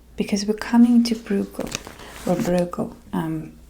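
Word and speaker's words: Bruegel: Um there's so many different ways to pronounce his name. Um he is a Dutch painter. So keep that in mind. I guess it's Broco. Broco. Braco but in in my accent I just say bro.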